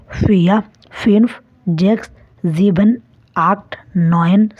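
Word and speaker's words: vier: দেখুন, 0কে জার্মানে বলা হয় নুল, 1কে বলা হয় আইন্স, 2কে বলা হয় সোয়াই, 3কে বলা হয় দ্রাই, 4কে বলা হয় ফিয়া, 5কে বলা হয় ফুনফ, 6কে বলা হয় জেক্স,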